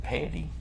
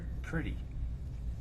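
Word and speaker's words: Pretti: Pronounce Is it Petty? No, it's pretty. Is it P-R-E? So it's Pretty.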